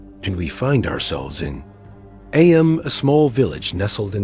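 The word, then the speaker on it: Eyam: It's now the asterisk summer of 1665 and we find ourselves in AM. A small village nestled in the asterisk picturesque hills of Darbisha, England. AM, you know, is pronounced just like M asterisk.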